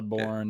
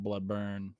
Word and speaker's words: Bloodborne: It's also Dark Souls, not Dirk Souls, and you know, Yeah. Bloodborne, not Bloodburn, etc.